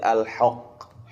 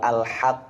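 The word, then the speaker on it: الحق: Jangan sampai seperti alhoq, tapi alhaq ha tetap diperhatikan itmamul harakahnya, penyempurnaan harakatnya.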